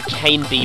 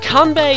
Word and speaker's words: Kanbei: using here convey the I always used to call him Kane V but I don't really back then I had wasn't even studying Japanese so I didn't know how to pronounce this I obviously yellow comedy